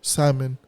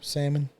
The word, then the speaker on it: salmon: don't yeah cuz uh I'm going pronounce it without L salmon yeah me yeah me too salmon yeah I want some